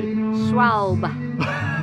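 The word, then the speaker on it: Schwalbe: And can I just say, on the pronunciation of Schwalb, what are you talking about, you idiot? It's Schwabble. Schwabble. Schwabble. Because people keep pulling me up on this in the comments section. I have spoken to the Aussie distributor about how to say this. Please tell us how you pronounce it properly.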